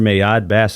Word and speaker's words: Mayad Bass: Mayad Bass, is that pronunciation correct? Yeah, that's a correct pronunciation. A lot of people have problems with that name, whether it be the first name or the last name. A lot of people want to say bass because of the bass guitar.